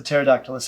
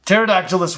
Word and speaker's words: Pterodactylus: Pterodactylus wins. Their names are challenging. Sound them out. Sound them out is a tough ask when the words start with a silent P and an AE respectively.